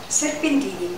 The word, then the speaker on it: serpentini: Serpentini.